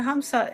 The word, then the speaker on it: hamsa: The hamsa is the M is silent.